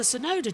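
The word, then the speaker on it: Tsunoda: from Fernandez it's the sonoda train which does still does work as TT because it's t soda sonod the te is silent botas trying to have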